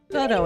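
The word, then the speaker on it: Godot: is this goo person I think it's goo I think the I don't think the tea think the tea is silent it's not surprising that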